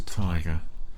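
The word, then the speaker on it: Teiger: just for And it is pronounced tiger. I just looked up and they do even though it's t e i g e r they pronounce the tiger.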